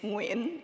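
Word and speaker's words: Nguyen: like joined Mozilla so my last name is win it's a very common Vietnamese last name and g-u-y-e-n it's very common but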